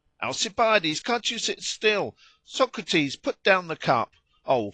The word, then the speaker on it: Socrates: it is true that the names were pronounced socrati aspari that is according to accent and not according to quantity but I suppose it